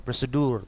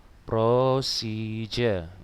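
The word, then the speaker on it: procedure: bedanya dengan repot sekarang prosije bacanya natadia bukan prosedur tapi prosija tidak ya ini tujuannya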